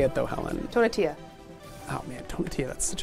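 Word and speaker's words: Tonatiuh: Tonatia.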